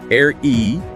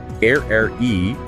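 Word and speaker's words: aerie: You can say air e air e or air.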